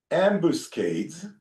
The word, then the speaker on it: ambuscade: The citizens of Shechem planted ambuscades, like ambushes. I think it ambush up. I don't know the pronunciation.